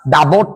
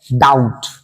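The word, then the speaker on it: doubt: আর এর সঙ্গে সঙ্গে ডাউট বানানটা ডাবট নয় ডাউট ঠিক আছে বানানটা ডি ও ইউ বিটি ওকে অনেকে ডেফিনেটলি বন্ধু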